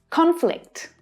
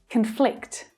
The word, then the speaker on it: conflict: the virus by drinking water from the river conflict conflict conflict conflict do you have any idea what's